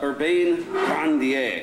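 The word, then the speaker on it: Urbain Grandier: purpose i think uh urbane grandier is the way she should pronounce he says i should pronounce it but i'm not going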